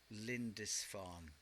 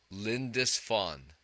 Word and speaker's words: Lindisfarne: And pronounce the name of the band one more time. Lindisfarne. Lindisfarne. Lindisfarne.